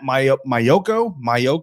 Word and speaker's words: Maiocco: San Francisco beat reporter Matt Maiocco, I believe is how you say his name, wrote a piece basically